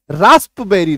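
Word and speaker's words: raspberry: एक केक आता है है ना तो उसका स्पेलिंग जो है रास्पबेरी रहता है आर ए एस पी be double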